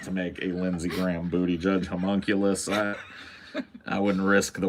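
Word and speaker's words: Buttigieg: he just got a ridiculous his name is Booty judge like I I can't even think of a different way to pronounce it yeah it would be like if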